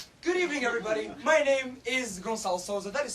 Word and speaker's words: Gonçalo: is Gonçalo Sousa. That is spelled G-O-N-C-A-L-O, and weird name word spelling comes from the fact that I am in fact from Portugal.